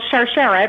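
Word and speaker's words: Sharsheret: Well, Charcharette, which is the way it's pronounced, is actually the Hebrew word for chain or necklace.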